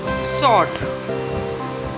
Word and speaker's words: sword: Sword. The letter W is silent.